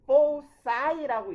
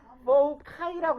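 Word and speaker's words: foci: 얘는 포사이라고 읽거나 포카이라고 읽으면 돼요. 둘 다 상관없어요. 발음 기호는 포사이 이렇게 읽거나 아니면 포카이 뭐든 상관없습니다. 포사이, 포카이 둘 다 괜찮아요.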